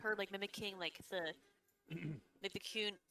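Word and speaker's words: Qun: And it's pronounced I'm trying to- Kuhn, by the way. Kuhn.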